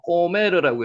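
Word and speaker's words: גֹּמֶר: 원어는 읽는 거 어느 분도 여러분 이제 거의 다 아시니까 요거를 읽으면은 한글로는 고멜이라고 증어놨지만은 원어를 읽을 때 읽어 보실 수 있죠. 꼬메르라고 읽시죠.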